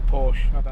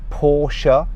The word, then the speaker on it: Porsche: How do you say Porsche? I say Porsche. I say Porsche as well. Some motoring journalists say Porsche. That's a girl's name.